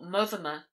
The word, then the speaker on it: Montfermer: Hugh, Lord of Montfermer, or Mothermer, as it was generally pronounced, and whom, as his